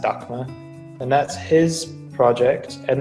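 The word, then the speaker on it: Daxma: in two bands right now one is called docma it's spelled d-a-x-m-a though um but pronounced dhaka and that's his project and then he's also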